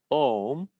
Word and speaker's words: Om: how do we say om how do we say um normally we end up saying om right so om comprises of three syllables mahesh has another word